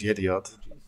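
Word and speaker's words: Yedioth: a publication that's uh sounds very similar to idiot well the proper pronunciation is the idiot okay so Minister of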